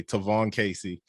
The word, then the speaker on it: Tavon Kacey: know some people's names like javon and they pronounce it jayvon or tavon so okay tyvon casey and like it's funny you say that because